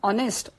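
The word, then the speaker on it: honest: होतं तर जेव्हा आपण ऑनेस्ट हा शब्द उच्चारतो ऑनेस्ट म्हणजे प्रामाणिक तेव्हा एच हे जे अक्षर आहे त्यातलं हे सायलेंट आहे अर्थात त्याचा उच्चार होत नाही त्यामुळे एच ओ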